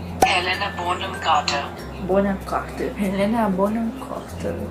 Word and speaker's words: Helena Bonham Carter: Pronúncia. Helena Bonham Carter.